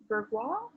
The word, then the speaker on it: Bourgeois: whose name is laurent bourgeois burghwa that's french fourth law yes so his name is spelled b-o-u-r-g-e-o-i-s oh very french yes